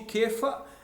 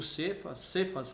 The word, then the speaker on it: Cefas: sou de Apolo eu sou de quefa eu sou de Cristo que né está escrito cefas mas é errado a pronúncia que faz em grego tá que é equivale